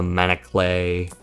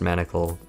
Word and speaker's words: Manacle: Um, well, time to roll the go, the wall, the house, the manaclay. Yes, it's pronounced manacle.